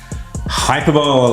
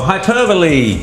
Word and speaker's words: hyperbole: to back it up hyperball or hyperbole pronounced by Julia Gillard as hyperball it is of course